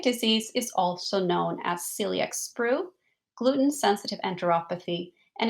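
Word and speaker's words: coeliac: is also known as Celiac sprew Gluten Sensitive enteropathy and a spelled differently with an O but still pronounced Celiac in the UK so let's take a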